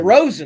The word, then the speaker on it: DeRozan: Lonzo DeRozan, I have no clue how to DeRozan, pronounce this. DeRozan. DeRozan, there we go.